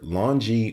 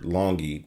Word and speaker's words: LONGi: by a company called either longie or longy depending on the pronunciation they are the lr6-72pb